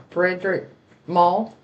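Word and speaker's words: Frederic Malle: My full bottle's getting low on it, but the Frederick Malone. How do you say that? Frederick Mall.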